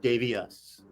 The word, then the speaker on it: Davius: Not Davy me. Not Davy you. Davy us. Davy us.